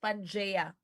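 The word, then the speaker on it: Pangaea: basa na guys pero it's pronounced as pan so the super continent o daw guys this is superent named panjea and hindi po ito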